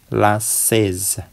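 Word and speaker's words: la chaise: kursi ya kursi last di sini ada a bertemu dengan I itu diucapkan e ya E lasz Oke kemudian lawur lawur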